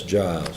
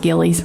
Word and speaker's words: Gillies: I think that's Giles. Giles? Is it Giles? It's pronounced Gillies. Gillies?